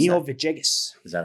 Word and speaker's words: Villegas: How do you pronounce Camilo that? Villegas.